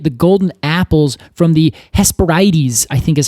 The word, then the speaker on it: Hesperides: golden apples from the Hesperides, I think is how you say this. Oh. Sorry if I'm saying it wrong. It looks like it's just spelled Hesperides, but I think it's Hesperides.